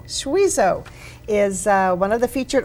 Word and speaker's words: Schwiesow: Schwiesow is one of the featured artists this year.